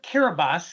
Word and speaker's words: Kiribati: So the island of Kiribati is how they pronounce it there Ah, in Kiribati, thank you.